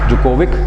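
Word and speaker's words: Djokovic: Nadal नोवेक that is जोकोविक इसमें D silent होता है जोकोविक है ये नोवाक जोकोविक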